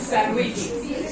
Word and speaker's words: sandwich: উচ্চারিত হবে না স্যান্ডউইচ ডি উচ্চারিত হবে না D silent স্যান্ডউইচ D silent not স্যান্ডউইচ is sandwich he is silent look